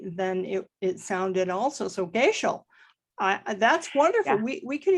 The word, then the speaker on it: Goeschel: My last name is pronounced Goeschel. Goeschel? Goeschel. You would never know that by looking at the spelling.